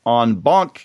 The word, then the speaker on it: en banc: And she's going to be talking about a Fourth Circuit en banc case, and that's the correct pronunciation, as you know from the last couple episodes, that is about sentencing issues.